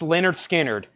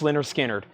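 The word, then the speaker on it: Lynyrd Skynyrd: is probably my favorite album from analog Productions pronounce Leonard skinnard 2lp 45 RPM 69.99 pronounced lard skinnard I'm telling you it's the best version ever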